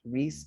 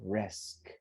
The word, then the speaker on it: risk: then we have risk this is not rhys doesn't exist is an serious i so it's not it's not risk excuse me it's not risk it's risk risk almost like an e but it's not an a it's like almost risk everybody risk risks risk